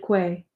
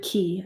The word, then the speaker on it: quay: stood on the deserted Quay deserted key I think that's how you say it the first floor of